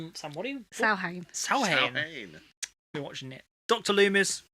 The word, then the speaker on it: Samhain: Samhain, it's actually pronounced Samhain.